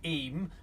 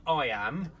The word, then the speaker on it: Eyam: and we start off in the village of e that's pronounced e not I am which is how we start pronouncing it at